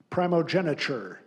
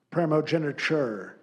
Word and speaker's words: primogeniture: Your word is primogeniture. Primogeniture. Alternate pronunciations: primogeniture, primogeniture, primogenitor.